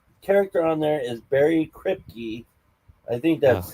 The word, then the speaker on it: Kripke: character on there is Barry Kripke. I think Oh, that's how you pronounce his name.